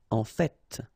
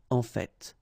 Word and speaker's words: en fait: So whether you pronounce the final T or not, you can hear both. En fait. En fait. En fait. I'd rather pronounce it personally. En fait.